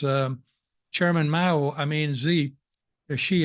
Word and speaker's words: Xi: chairman Mau I mean z she I'm told this is the right pronunciation I kept mispronouncing his